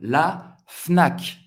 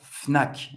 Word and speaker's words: Fnac: La Fnac. La Fnac. Todas as letras vão ser pronunciadas la Fnac, para você comprar seus